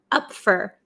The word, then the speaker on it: up for: So we usually say up for. Usually in American English, this for turns to fur, up for.